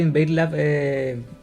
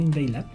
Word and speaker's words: InvadeLab: Ya, primero, era el primero que pronuncia bien Invailab. Sí, de hecho yo dije Invade. Pero el primero que pronuncia bien, porque como estamos acá en Chile, todos le dicen Invadelab y nosotros como que desde que comenzaron todos a decirnos así dijimos, no, ya es Invadelab, no, ya, ¿para qué vamos a ir contra la corriente?